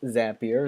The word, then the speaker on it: Zapier: can connect to zapier it is pronounced zapier zapier makes you happier okay so you'll need